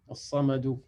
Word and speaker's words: الصمد: As-samadou. As-samadou. Donc là, tu l'as bien prononcé. Le sa, il est bien emphatique et le ma et le dou, il est affiné.